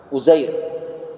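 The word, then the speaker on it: عزير: Berkata orang-orang Yahudi bahwa Uzair, atau dalam dialek orang-orang Eropa disebut Ezra, ya, biasa kita dengar seperti itu, Uzair. Kalau dalam pelafalan Al-Quran bahasa Arab, Uzair.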